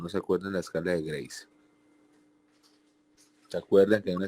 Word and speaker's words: GRACE: Está el otro riesgo, que es la escala de Grace, GRACE, Grace, la escala de Grace, pero se pronuncia Grace, que tiene evaluación de